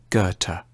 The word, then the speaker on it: Goethe: supposed to say it a safe bet is to start with a hard G on G and end with a t Gerta Johan fulang Fon Gerta has often been seen